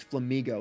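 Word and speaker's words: Flamigo: No, it's flamingo like an amigo like a friend.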